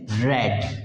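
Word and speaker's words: read: तो don't be confuse spelling same रहती है लेकिन उसका जो प्र प्रोनंसिएशन है वो चेंज हो जाता है रीड रेड रेड तो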